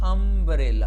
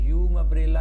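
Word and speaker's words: umbrella: ठीक है, यू मबरेला नहीं बोलते, हम इसको बोलते हैं अम्ब्रेला, अम्ब्रेला। यू अकेला इसको हम नहीं बोल सकते, यू मबरेला नहीं, आप इसकी आवाज शुरुआती यू नहीं बना सकते, बनेगी।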